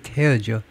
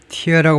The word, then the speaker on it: tear: In a country, 국가에서 already torn by war, torn은 tear죠. 찢다요. tear라고 발음하면 눈물이 되고 tear 하면 찢다죠.